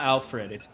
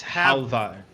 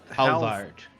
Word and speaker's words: Halvard: It's not Alfred. It's Halvard. Halvard.